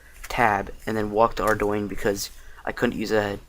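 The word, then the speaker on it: Ardougne: Yes, it's pronounced Ardoyne.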